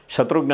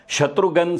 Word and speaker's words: Shatrughan: ಶತ್ರುಜ್ಞ ಸಿನ್ಹ ಅವರ ಹೆಸರನ್ನ ಉತ್ತರ ಭಾರತದ ಬೇರೆ ಬೇರೆ ಪ್ರದೇಶಗಳಲ್ಲಿ ಒಬ್ಬೊಬ್ಬರು ಒಂದೊಂದು ರೀತಿಯಲ್ಲಿ ಉಚ್ಚಾರಣೆ ಮಾಡ್ತಾ ಇರ್ತಾರೆ ಅಂದ್ರೆ ತಪ್ಪು ತಪ್ಪಾಗಿ ಬಂಗಾಳದವರು ಶೋತ್ರುಜ್ಞ ಸಿನ್ಹ ಅಂತಾರೆ ಮತ್ತೊಬ್ಬರು ಶತ್ರುಜ್ಞ ಸಿನ್ಹ ಅಂತಾರೆ ಈ ರೀತಿಯಾಗಿ ಬೇರೆ ಬೇರೆ ರೀತಿಯಾಗಿ ಉಚ್ಚಾರಣೆ ಮಾಡ್ತಾ ಇದ್ದಿದ್ದರಿಂದ ಈ ಒಂದು ಗೊಂದಲ ಬೇಡವೇ ಬೇಡ ಅಂತ ಹೇಳಿ ಅವರು ತಮ್ಮ ಹೆಸರನ್ನ ಶತ್ರುಗನ್ ಸಿನ್ಹ ಅಂತ ಮಾಡ್ಕೊತಾರೆ ಮುಂದೆ ಖ್ಯಾತ ಪತ್ರಕರ್ತೆ ಶೋಭಾ